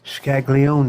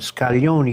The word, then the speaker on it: Scaglione: Scaglione, they would pronounce it, but Scaglione, you pronounce it the Italian way.